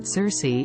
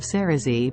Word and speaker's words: Cerasee: and Asia fun fact many people search for the word Cersei instead of cerazee because of the pronunciation however in a Google